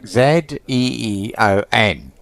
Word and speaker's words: Zion: Zion. There. Listen. I don't know if you can. Zion. So it's like Zeeon.